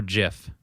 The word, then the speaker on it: GIF: Okay, so honest to goodness, do you guys pronounce it GIF or Jiff? I pronounce it like it's supposed to be pronounced. GIF. Which is GIF. Because it has a G, not a J.